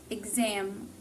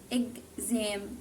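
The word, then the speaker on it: exam: بيكون استرس على بيكون نفس صوت بالظبط اللي هو جي زد اللي هو صوت طيب زي ايه مثلا كلمه ايه اجزام اجزام اجزام اجزام او برضو كلمه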